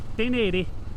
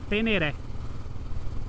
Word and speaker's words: Ténéré: aí da Transamazônica, que o correto é Tenerê, pela origem da palavra e tudo mais, mas estamos aqui no Brasil. A própria Yamarra Brasil, na propaganda da Ténéré 700, pronuncia Ténéré.